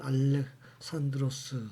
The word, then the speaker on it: 알렉산드로스: 지금 학교 현장에서는 알렉산더보다는 알렉산드로스 3세 또는 알렉산드로스 대왕이라고 배우죠. 즉 86년도 외국어 표기법이 개정이 되면서 현지 발음에 가깝도록 하다 보니까 영어식의 알렉산더보다는 그리스식의 그리스 표기법인 알렉산드로스 3세 또는 대왕으로 표기하고 있습니다.